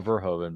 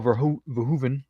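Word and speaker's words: Verhoeven: verhoven sorry sorry sorry thought it was Paul verhoven but I guess not Dutch pronunciation that's director okay sorry sorry sorry sorry but yes uh Paul ver ven yesh Total Recall that's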